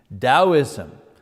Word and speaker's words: Taoism: You pronounce the T like a D. Taoism, that comes from China.